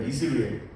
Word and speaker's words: 이스르엘: 아이 이름이 이스르엘 입니다 여러분 중에는 아까 목사님 오타 낸 거 아니야 이러면서 이스라엘이라고 꿋꿋하게 발음하시는 분들이 있는 거 같은데 이스르엘입니다 이스르엘 이스라엘 족속의 나라가 패할